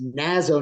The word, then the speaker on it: Nazo: saying it correctly it's Nazo nightmare band because Nazo is short for Nazareth which is the town